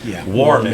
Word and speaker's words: Warman: It's the Warman Trio. Am I pronouncing that correctly? Yes, Warman? you are. Yes. Warman.